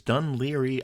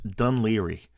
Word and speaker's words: Dun Laoghaire: Today's port of call is Dun Laoghaire, which written in Gaelic is spelled nothing like it sounds.